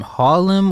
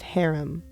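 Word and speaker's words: Harem: is very similar to wait pronounce that again Harlem or herum sorry men of herum my bad okay so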